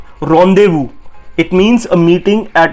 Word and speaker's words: rendezvous: It's not rendezvous or rendezvous, it's rendezvous. It means a meeting at an agreed time and place, and ये एक French word है rendezvous, and इसकी pronunciation है RON hyphen DEI hyphen VOO.